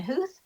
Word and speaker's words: Huth: Even though it sounds like a hoof, it's not pronounced with o's in there.